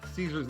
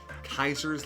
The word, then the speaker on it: Caesar: I'm familiar with with Caesar's Legion, sorry, Kaiser's Legion or however he wants it pronounced.